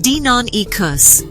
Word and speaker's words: Deinonychus: dinonicus is Greek for terrible claw the name Daniel Nicos pronounced Dinan ecos references the single large